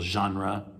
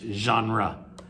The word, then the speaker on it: genre: It's a French word. It's not an English word. We kind of borrowed it from French, and we pronounce it in English genre. In French, it's genre, but it's very difficult for us to pronounce, so we say genre.